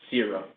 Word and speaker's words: Séura: First and foremost, it is pronounced Séura.